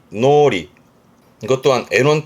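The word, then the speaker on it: 脳裏: 뜻은 뭐 한자 그대로 머릿속인데 발음이 노리.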